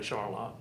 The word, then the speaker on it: Charlotte: there now it's Charlotte they spell it like Charlotte but they say Charlotte which has been going